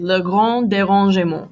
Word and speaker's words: Le grand dérangement: I know the kids in Yale make fun of me for the pronunciation, but that's really how you say it. Le grand dérangement.